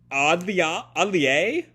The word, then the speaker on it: atelier: It looks like it's an atelier? My thing is muted. Atelier. Atelier, it sounds like, by this pronunciation thing.